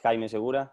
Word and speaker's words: Jaime: you doing good friend um my name is jaime like you try to say i'm not gonna blame on your pronunciation uh i'm from argentina and i was